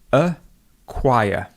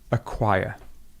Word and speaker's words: acquire: So we have a schwa, then we have the k sound, and we have the w sound. Okay, that's all it is. Acquire. Acquire.